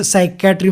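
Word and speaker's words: psychiatry: काही सायलेंट उच्चार असत जसं सायकॅट्री मध्ये पी सायलेंट आहे तर मग ते लिहीत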